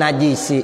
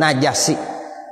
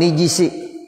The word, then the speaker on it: نجس: Dari 4 lughat dibaca anin najisi, yang salah dibaca gitu. Jadi anin najisi salah. Yang benar anin najasi atau anin nijisi atau anin najsi atau anin nijisi. Jadi 4 gitu ya Bapak Saudara cara bacanya.